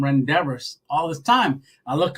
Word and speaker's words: rendezvous: and uh and he goes do you mean Rendezvous and we started laughing and I thought rendezvous oh yeah I was pronouncing for some reason I just looked one